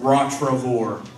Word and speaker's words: Rottrevore: How many, if you heard different pronunciations, it's pronounced Rottrevore.